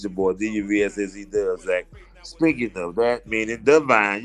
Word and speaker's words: DuvSac: It don't mean a 20 sack of weed. A 20 sack of weed is dub sack. A dub. I am Dove. DuvSac DuvSac.